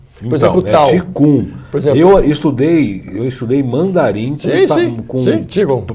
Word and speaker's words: Qigong: Foi o Ti que se escreve Ki. Mas é Qigong. Qigong.